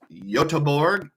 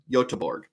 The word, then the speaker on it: Göteborg: So how about Gothenburg, Sweden, which is pronounced Göteborg.